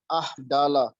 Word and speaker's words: amygdala: The left side of hippocampus, the flow is minus 4.1, and on the right side of amygdala, just listen the pronunciation, amygdala, a portion of brain which deals the shape.